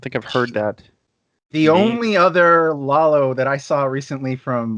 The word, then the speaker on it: Lalo: right okay great yeah Lalo yeah a lot of people say lay low or some other variation yeah are you if